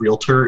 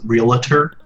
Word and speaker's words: realtor: Uh, I just I just went down mispronunciation of realtor is realer.